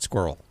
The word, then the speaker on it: Squirrell: doctor first of all am I pronouncing your last name right squirrel yes like like the animal is as absurd as